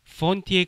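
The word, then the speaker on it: fonti: 폰티에 F 발음을 유의하시기 바랍니다. 예, 뭐 폰티 이러지 마세요. 폰티는 폰테라는 다리라는 뜻의 그 사람들 건너다니는 다리 있죠. 그걸 다 폰테라고 그러는데 강에 있는 다리 그런 것들 F하고 P하고의 차이에 따라서 뜻이 완전히 달라지게 돼요.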